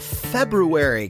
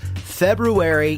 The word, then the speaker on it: February: Andrews Radio Show on this 6th day of February. Can you believe that? By the way, it's pronounced February, not February, everybody out there, just letting you know.